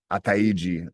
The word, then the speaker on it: Ataiji: Ataiji is how you say his name correctly.